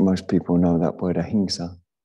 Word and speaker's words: ahimsa: people know that word ahinsa sometimes you hear it pronounced as ahimsa which is an understandable mispronunciation okay big white circle